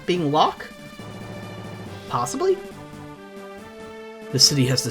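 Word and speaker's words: Locke: past say hello to lock I've heard it pronounced luy Lu a few other interesting pronunciations but I'm pretty sure it's just meant to be lock I prefer the term treasure hunting huh semantic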